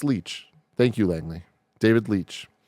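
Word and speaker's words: Leitch: and 59 minutes um it's pronounced leech thank you Langley David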